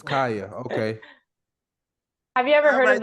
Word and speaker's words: Khija: So it's Khija. Khija, yeah. Just pretend the J is a Y. Right. Yeah, okay. Because I would have thought it was Khija, I know.